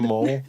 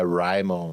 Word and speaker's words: Rimon: Rimon é com I, né? R-I-M-O-N, normal. Se fala também como se escreve. Não é Raimon ou qualquer coisa parecida. É tipo um Ramon com I.